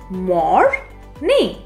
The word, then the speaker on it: morning: Morning. Where are we stressing? Let's repeat. Morning. Right, on the first syllable.